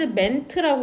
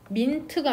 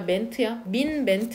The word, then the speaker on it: meant: practice 그 동사는 has meant라고 읽는다. 참고로 민트가 아니라 멘트야. 멘트거든. 3단 변화가. has meant죠.